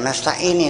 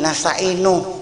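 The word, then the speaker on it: نستعين: Dia bacanya iyyaka na'budu wa iyyaka nasta'in. Nih, saya kasih tegur, jangan nasta'ini, nasta'inu kalau mau terus.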